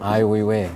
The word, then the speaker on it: Ai Weiwei: this guy named, I don't know how to pronounce it. It was like Sure. Wee Wee, and he did. Ai Weiwei.